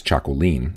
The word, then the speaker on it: Txakolin: instead the route form of this name is Chaco lean and the proper form to use when referring